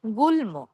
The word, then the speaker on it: গুল্ম: গ, ঙ, ট, ন, ন, ম, ল। এই বর্ণগুলোর সাথে ম উচ্চারণ বহাল থাকে।